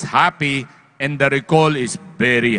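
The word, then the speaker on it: Hapee: it's a p e you pronounce it as happy and the recall is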